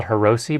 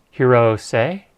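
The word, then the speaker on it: Hirose: external battery using the I used to call her Rosie but a person from Japan explained to me it's not pronounced her Rosie its Hiro say it's how you say it so it's a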